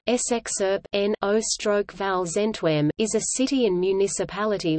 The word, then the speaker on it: Scherpenheuvel-Zichem: Scherpenheuvel-Zichem (Dutch pronunciation: SXERP-NO/VAL-ZENTWEM) is a city and municipality located in the